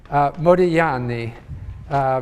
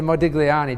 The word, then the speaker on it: Modigliani: to pronounce his name Modigliani because in Italian you don't pronounce the G although I tend to say Modigliani just to be understood